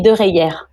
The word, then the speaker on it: Dereyer: J'espère que je prononce bien votre nom de famille. On dit Dereyer.